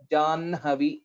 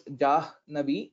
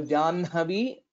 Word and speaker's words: जाह्नवी: सो the pronunciation is First, we'll have to tell the nakara and then the ha, janhavi, though we write it as ha first and then nakara. So some people pronounce this as jahnavi, but that is incorrect.